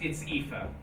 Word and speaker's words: Aoife: It's Aoife. Maybe the thing is an E at the end. In some situations is pronounced ye, like granye.